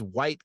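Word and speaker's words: wight: Previously on Players & Book, fly for a white god, but it's spelled w i g h t to be clear.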